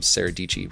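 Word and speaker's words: Sara Dietschy: came from a recommendation from saradici rhymes with peachy also another great youtube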